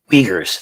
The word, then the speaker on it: Uyghurs: Uyghurs, thank you, Captain Turk. I knew I was pronouncing it wrong.